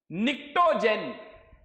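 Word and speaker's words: pnictogen: Okay, निक्टोजेन, P silent है।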